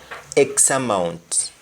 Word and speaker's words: X amount: X amount. And in most cases we don't even pronounce the T at the end of X amount.